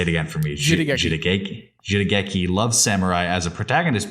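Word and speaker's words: jidaigeki: Quote, in brief, Jidiki, which is a period drama. Did I pronounce it right? Jidiki? I think it's Jidageki. Jidageki. Wow. It's Japanese, yeah.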